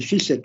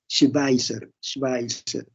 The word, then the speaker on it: Schweitzer: Albert Schweitzer, cuando uno lee cómo se escribe, no vayan a decir Albert Schweitzer, no, es Schweitzer.